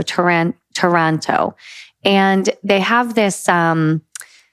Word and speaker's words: Taranto: I'm going to go with Taranto, not as in Toronto in, Canada, but as in tarantula. So Taranto.